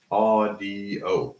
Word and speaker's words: audio: Audio has 3. Audio. Again, I and O don't mix. In contrast with this case, all right? Shun is a suffix that always or almost always is pronounced the same way as one syllable. But most of the time, the I and the O do not mix. They do not work together. So audio, 3, okay?